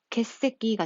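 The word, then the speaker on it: 欠席: 그래서 이걸 한꺼번에 같이 읽으면 발음이 어떻게 된다? 개새끼가 됩니다.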